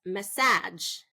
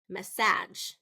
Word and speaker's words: massage: syllable stress is message if I say second syllable stress massage massage okay message massage so